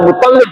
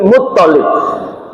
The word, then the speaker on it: Muttalib: Hati-hati toknya, tasjidnya yang di tok, ini bukan Muttalib, bukan, tapi Muttalib.